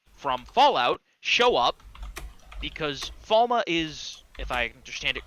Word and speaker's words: Falna: Falma.